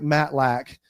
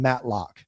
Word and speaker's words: Matlack: Um, you know, with a name with a last name like Matt Lac and a TV show like Matt Lock, a lot of people say my last name Matt Lock, you know, and so,